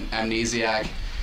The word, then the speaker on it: Amnesiac: uh you really liked what was a radiohead amnesiac yeah is that how you say it yeah